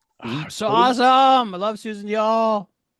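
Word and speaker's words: Susan Diol: I love Susan Dol. Played by Susan Dial. I know the pronunciation now because Ali has said it several times.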